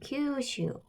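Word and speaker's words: 九州: 자, 규슈라고 해서 이 9주자를 써서 장음 큐가 되겠죠. 그 9구자니까. 자, 그 다음에 이 제주 할 때도 이 주자를 쓰죠. 그래서 일본식 발음은 장음으로 슈가 된다. 그래서 규슈. 그래서 우리식으로 발음할 때는 그냥 규슈라고 발음을 하죠.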